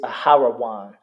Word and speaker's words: Aaron: After that is Aaron. Aaron. Spelled, to say it in the Hebrew is Aharawan. Aharawan. Aharawana. Aharawan.